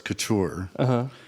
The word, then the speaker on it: Couture: to anything but yeah the right way to pronounce it is Couture okay perfect so